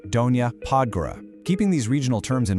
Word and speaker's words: Donja Podgora: And when you're navigating those lower slopes, it's Donja Podgora, pronounced Donja Podgora.